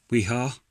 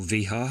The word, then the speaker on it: Wiha: Wihar, or Vihar, however you want to pronounce it.